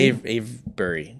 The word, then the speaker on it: Avebury: Avery or Avery? Avebury. Spell it.